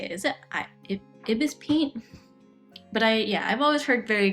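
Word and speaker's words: ibisPaint: It's pronounced IBS part except for, oh, okay. Pronounce the IBS part as separate letter.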